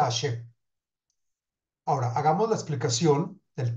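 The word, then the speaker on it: השם: Y se deberá meditar el santo nombre de Hashem que se pronuncia, que es Hey Shin Mem, que se pronuncia Hashem.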